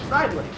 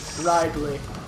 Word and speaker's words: Ridley: His name is Ridley, as you can see at the top of the screen there. Riley? Ridley. Ridley. Yeah, it's pronounced both ways. Like an alias, Ridley.